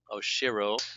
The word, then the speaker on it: Oshiro: Who is Oshiro? Am I pronouncing that right? Correct. Oshiro.